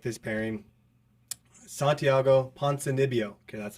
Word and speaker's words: Ponzinibbio: Santiago Ponzinibbio.